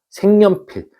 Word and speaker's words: 색연필: 생연필. 우리 색연필이라고 발음하는 사람들도 많아요. 그죠? 그래서 얘는 발음해 보면 생연필이 되죠.